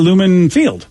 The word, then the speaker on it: Lumen Field: with a creamy center someone said you could say it like seinfeld said newman yeah well we got a new field so that's tonight tonight's game is going to be lumen field yeah i that's what